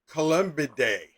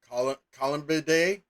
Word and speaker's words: Columbidae: Pigeons and doves are scientifically distinct and both belong to the same bird family, which is the Columbidae. Columbidae? Columbidae. Columbidae. Look, it's not spelled like the toilet, but it might as well be because we're talking about freaking pigeons.